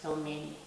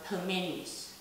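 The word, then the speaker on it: пельмени: So instead of pelmeni, we say pelmeni, pelmeni. So you make this letter L soft by placing the soft letter after the letter L.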